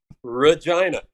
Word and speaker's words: Regina: give you a hint it rhymes with vagina yeah red Regina yeah all right question